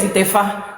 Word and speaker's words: Itefa: Itefa is not Ifa initiation. Itefa is Itefa. You can pronounce it. It's Itefa.